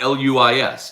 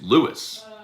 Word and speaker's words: Louis: spelled lewis it's not l-u-i-s it's not luis it's lewis l-o-u-i-s lewis how about we